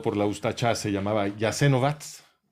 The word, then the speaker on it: Jasenovac: la ustacha se llamaba yasen vats si lo ves escrito en en en alfabeto latino parece que dice jasenovac pero la pronunciación es jasenovac y eh ahí estaban